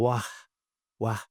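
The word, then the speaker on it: רוח: La palabra traducida como aliento en hebreo se escribe ruach, así como se lo digo, ruach, pero se pronuncia algo así como wah, wah.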